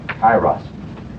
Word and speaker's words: Kairos: Kairos. Okay, can I spell that right?